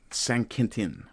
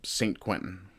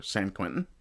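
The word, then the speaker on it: Saint-Quentin: Uh so where this battle happened was called a place called St. uh Sanentin I think is how it would be pronounced in France in French uh St. Quentin which you wouldn't think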